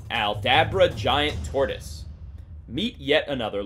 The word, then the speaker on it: Aldabra: serious trouble number 8 aldabra giant tortoise meet yet another long-living cousin of the galapagos tortoise the aldabra giant tortoise is it just me or does that fanciful name rhyme with abracadabra abracadabra aldabra now these fellows can